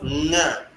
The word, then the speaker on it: ng: And then we have nga. It is written ng, but it's pronounced nga. So some words you see nga, it is not nga in Tyap, it is nga.